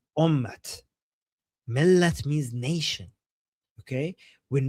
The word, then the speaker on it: ummat: So in Arabic, they say Ummah. In Persian, they say Ummat. So the t that is silent in Arabic, in Persian, they pronounce it.